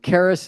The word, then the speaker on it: Charis: inner spirituality uh and Caris is spelled Charis like c h a r i s it's actually the Greek word for Grace uh and also charism